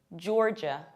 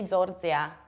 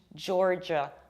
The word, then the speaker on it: Georgia: Pay attention to how strongly I pronounce R, jor, and how much I reduce the ending, j. Georgia. And right now, attention Greek people. Prosohei Elines, don't say Georgia. It's j, j, Georgia.